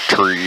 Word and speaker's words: three: read the phonetic thing it says to pronounce it tree in five and niner just glad i don't